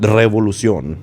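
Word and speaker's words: revolución: And it was difficult because you gotta understand, to roll your R's, you kind of roll your R's through the tip of your tongue and the roof of your mouth, like 3 and everything. Revolucion. That's how you say it.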